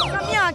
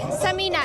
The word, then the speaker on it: समीना: सम्या कैसी हैं आप? अल्हम्दुलिल्लाह बिल्कुल ठीक आप कैसी हैं? मैं आपका नाम सही प्रोनाउंस कर रही हूं। नहीं समीना एस ए एम समीना।